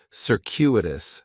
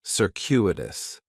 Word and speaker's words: circuitous: like, is circuitous, and circuitous has 4 syllables, and there's a few things going on with the pronunciation. In the first syllable, that C is going to have more of an S sound, circuitous. The stress is going to be on that second syllable, and that CU is kind of like you're saying the letter Q, circuitous, circuitous. Circuitous is talking about a